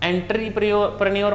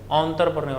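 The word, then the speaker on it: entrepreneur: spelling नहीं बोलना तो आप एंट्री प्रनर मत बोले अंतर प्रनर बोले ठीक है तो ऑप्शन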